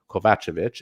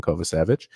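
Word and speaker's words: Kovacevic: and Jonathan kovich was saying to me or kovachevich as he by the way confirmed that is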